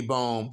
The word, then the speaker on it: Bohm: Mandy Bohm versus Yeon Kim.